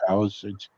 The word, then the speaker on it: Palisades: Is that how it's pronounced? Yep. Palisades.